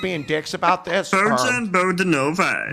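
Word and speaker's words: Bogdanović: Bojan Bogdanovic. Like, what's the story here, man? You know it's Bogdanovich. Yeah, I know. Then why won't you say it the right way?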